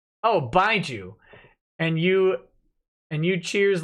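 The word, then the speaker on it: baijiu: It's pronounced Baiju. Oh, Baiju.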